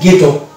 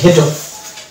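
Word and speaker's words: ghetto: যেমন এটা হচ্ছে ব্রিটিশ ইংলিশের ক্ষেত্রে গেটো, তার মানে এখানে এইচ এর উচ্চারণ আসছে না, মানে হ উচ্চারণ আসছে না, গেটো। কিন্তু ইংরেজিতে হয়ে যাবে, আমেরিকান ইংলিশের ক্ষেত্রে হয়ে যাবে ঘেটো।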